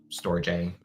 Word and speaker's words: Storj: Storj, actually is, I think, how they officially pronounce it now.